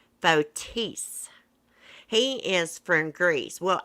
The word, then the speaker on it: Fotis: i don't pronounce bodus's name right it's actually pronounced fotis he is from greece well actually he grew